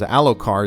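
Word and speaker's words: Elhokar: So now his very weaker son and not nearly as powerful or politically savvy son, Alo Alar, Alocar, uh, that's how the audio book pronounces. Alokar is the king, but he's a very weak king.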